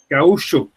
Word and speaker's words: gaúcho: Gaúcho. Yeah, the CH here doesn't have the punch to it. Gaúcho. It's more like an S, like a hard S. SH, yeah.